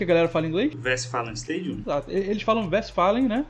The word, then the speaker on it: Westfalenstadion: Westfalenstadion? Exato. Eles falam Westfalen, né? Separado, Stadium, em inglês. Só que aí a pronúncia correta que vem do alemão seria Westfalenstadion.